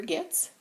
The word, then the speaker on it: Goetz: creations by jinx the shop owner is Jennifer gifts and that spelled goe TZ but it's pronounced GE TS and Jennifer is local to